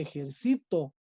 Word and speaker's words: ejercito: Las graves son porque la sílaba tónica es la penúltima. Yo siempre me ejercito, ¿sale?